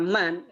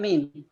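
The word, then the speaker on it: من: Ya, tadi nomor 8 dan 9 kalau ada kata man itu bacanya bukan min, man. Siapa? Ya, bukan min.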